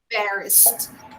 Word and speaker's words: embarrassed: number five they get embarrassed be careful when you pronounce this word you should finish the pronunciation of this word with the sound of thee embarrassed okay guys yes